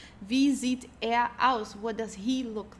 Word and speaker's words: wo: Then the next V which means where uh make sure the pronunciation VV in German. Okay. V. Okay. It's not like the English where or so.